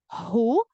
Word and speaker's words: who: here we pronounce it who the W is silent so we say who